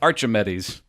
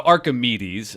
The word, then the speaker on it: Archimedes: they like worse yeah Archer met ease he didn't know what he didn't even know how to pronounce his name didn't know how to pronounce his name so so Archimedes I'll use the more common way of saying his name he talked